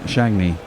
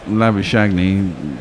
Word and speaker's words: Labuschagne: But the way it's spelt and the way you say that in English, the G-N-E would be silent, Shagney. So Labuschagne, someone that looks like an Englishman.